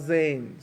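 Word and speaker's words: زاي: this one zing zing it's called Zane so it's kind of like Ghazi starts with the Z like a zebra zing as a noon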